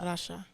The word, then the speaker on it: Rasha: tripping out because like my name's pronounced like the country Russia Russia it's Russia and it's like every